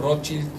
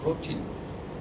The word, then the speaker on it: Rothschild: Me dice, no, es Rothschild, porque somos de origen alemán, que quiere decir escudo rojo.